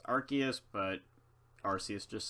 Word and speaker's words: Arceus: I know it's Arceus, but Arceus just sounds better.